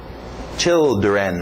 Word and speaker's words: children: Children. Children, olha esse final, nada de children, para no N, children, ok?